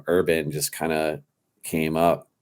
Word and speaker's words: Herban: A lot of people say Herban, and I'm like, No, it's urban, folks.